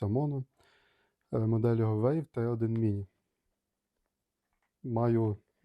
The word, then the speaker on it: Maono: It says Maono, but correctly it should be pronounced Mono.